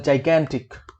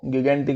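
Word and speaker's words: gigantic: एक होता है जाइगैंटिक, काफी लोग इसको गिगेंटिक बोलते हैं भाई, वो प्रोनाउंसिएशन गलत है थोड़ी सी, उसको सुधार लेना, इसको जाइगेंटिक बोलते हैं, ठीक है।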